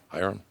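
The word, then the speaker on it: Ahiram: Hyram.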